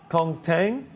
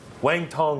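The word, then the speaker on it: Wang Cong: Kong Tang? Yeah. No, Wang Tong, Wang they Tong. call her. Wang Tong is the correct pronunciation of that.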